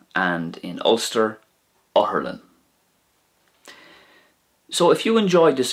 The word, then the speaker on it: otharlann: So once again, in Munster, Uspedale; in Connacht, it's going to be Aspigal; and in Ulster, Oherlin.